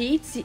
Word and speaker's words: ITZY: A pronúncia em coreano de ITZY é ITZY, que é exatamente igual à palavra que significa ter na Coreia.